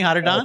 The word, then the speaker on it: Atadan: Again, you can go to Atadan, which is Atadan. Spelled a little different than it sounds, but I think I got that pronunciation right, didn't I, Atadan?